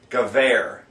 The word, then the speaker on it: Gewehr: There's a W in Gewehr. They don't pronounce a W with a V sound. It's W, W. It's not W, it's V. Gewehr.